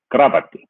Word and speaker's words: kravatti: with a K, and never have I ever heard that K at the beginning of the word ravatti. It was always just ravatti with kravatti. But, then learning how to spell it, you pick up how it's actually supposed to be said.